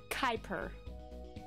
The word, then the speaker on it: Kuiper: It's typed Koopier, but it's pronounced Kuiper.